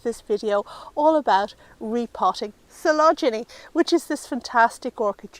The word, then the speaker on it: Coelogyne: Well, I'm here to tell you it's pronounced Coelogyne, despite what the letters may indicate.